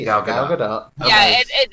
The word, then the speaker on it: Gal Gadot: actually Gal Gadot. Yeah, She it's pronounces actually the T.